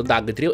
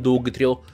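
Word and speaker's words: Dugtrio: da di three of andrebbe appunto pronunciato da the trio e non dubito come dicono alcuni perché viene da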